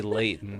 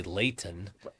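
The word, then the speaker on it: Layton: Yeah, you got to say Leon. You can't say Leighton.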